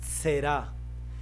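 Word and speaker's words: זרע: Esa palabra en hebreo se lee de la siguiente manera: será.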